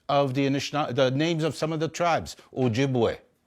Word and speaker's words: Ojibwe: Okay, the names of the Anishinaabe, the names of some of the tribes, Ojibwe. Okay, some people pronounce it Chippewa.